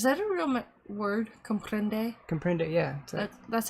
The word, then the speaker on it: comprende: Comprende, yeah.